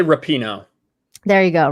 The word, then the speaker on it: Rapinoe: I say Rapinoe. There you go, Rapinoe.